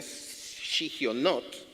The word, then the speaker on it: Shigionot: palabra en hebreo que se llama o se pronuncia shigionot, que es una indicación musical y poética que